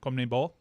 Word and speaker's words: CONMEBOL: CONMEBOL. Nailed it. Yeah, I think so. It's confusing because of all the syllables and whatnot.